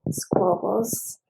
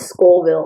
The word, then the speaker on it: Scoville: And yes, this one is 493 squabbles. It's Scoville also. Scoville? Yeah.